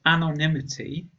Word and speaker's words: anonymity: If we compare these two words, then anonymous, firstly, the vowel at the beginning is the schwa sound, and the emphasis or stress is on the second syllable, but anonymity, the first vowel is a sound, and the stress is on the third syllable.